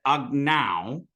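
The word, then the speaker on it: अग्नौ: So the thing to remember here is that agnow with the ow, that AU sound at the ending, is either a dual or a locative.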